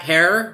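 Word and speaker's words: Herer: and times of jack hare rhymes with terror which we dropped on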